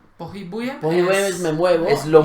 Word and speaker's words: pohybujem: Pero la diferencia está en la H y la G, que es muy sutil, pero en el eslovaco la diferencia se escucha y cuando alguien no hace la diferencia ya no te entiende.